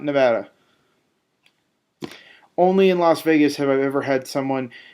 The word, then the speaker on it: Las Vegas: from las vegas and even las vegas is a spanish pronunciation it's not english it's not even anglicized it's las vegas so i don't understand